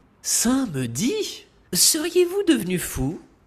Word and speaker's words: samedi: Samedi, seriez-vous devenu fou ? Ce mot se dit comme il s'écrit avec un a qui est visible et imposant. Et n'oubliez pas d'ouvrir la bouche pour parler.